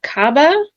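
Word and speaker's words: Kaaba: Now it looks like the first one is what is the significance of Cababa? I don't know if I'm pronouncing that right.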